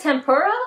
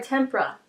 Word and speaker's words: Tempera: Is it tempura or tempera? How you spell it? Tempera. Tempera. Tempera. Tempera, right? Not tempura? No. There's no you.